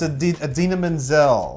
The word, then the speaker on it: Idina Menzel: No, you're John Travolta-ing it. Did I do it backwards? No, you just John Travolta. It's Idina Menzel.